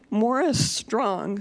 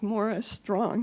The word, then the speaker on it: Maurice Strong: that died recently named Morris strong spelled like Maurice strong but pronounced more as strong he was a Canadian